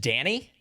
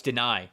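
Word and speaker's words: Dani: So, is his first name just Danny? No, it's Deny. Deny. That's what I thought because it's not spelled like Danny.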